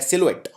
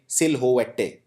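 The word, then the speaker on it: silhouette: बहुत मुश्किल है करना अगर आप पहली बार इस शब्द को देख रहे हैं तो आप इसे कुछ ऐसे प्रोनाउंस करेंगे सिल्वेटे लेकिन इसको बोलते हैं सिलवेट बहुत ही इसमें आपको बोलते वक्त कहीं प स्ट्रेस नहीं डालना है फ्रांसीसी भाषा का फ्रेंच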